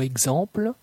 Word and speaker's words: exemple: La lettre X du mot exemple se prononce comme GZ. Exemple, exemple.